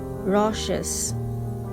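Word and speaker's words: raucous: is r a u c o u s pronunciation rashes it's an adjective meaning is being harsh or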